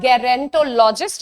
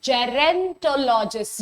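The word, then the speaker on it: gerontologist: okay easy let's go टू the next one the seventh one first is जेरेंटोलॉजिस्ट नाउ इट्स नॉट गेरेंटोलॉजिस्ट इज़ जेरेंटोलॉजिस्ट the pronunciation starts with J एंड नॉट ग ठीक है चलिए what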